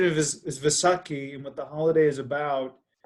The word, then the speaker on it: Vaisakhi: four or five different pronunciations okay yes the pronunciation is Vaisakhi but the holiday is about it basically really